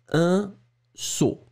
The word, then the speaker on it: saut: Vous allez les prononcer saut, mais bien sûr, vous allez les écrire différemment.